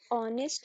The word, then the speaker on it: honest: एच हमारा silent है और जब हमारा कोई लेटर साइलेंट होता है वहां उसको पढ़ा नहीं जाता है।